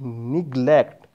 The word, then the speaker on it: neglect: No, it is neglect. You have to pronounce e here. E. Neglect.